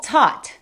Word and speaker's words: taught: Para empezar tenemos taught. Ese sonido ah es justo entre la A y la O.